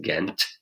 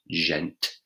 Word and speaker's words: Ghent: That is pronounced Ghent, not Gent.